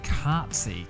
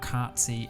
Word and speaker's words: Cartzy: This episode is brought to you by Cartsy.